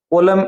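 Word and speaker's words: column: को आपको मिलाना है कॉलम ए कॉलम बी कॉलम की स्पेलिंग थोड़ा ध्यान से देखना। इसमें एन है वो साइलेंट है।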